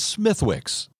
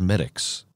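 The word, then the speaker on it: Smithwick's: gate brewery in dublin the ale is often mispronounced in america as smithwicks if one of your friends foolishly sidles up to the bar and incorrectly orders a smithwicks it's not exactly fighting words but very nicely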